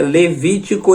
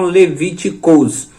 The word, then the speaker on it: Levítico: Lembrando que é Levítico e não Levíticos.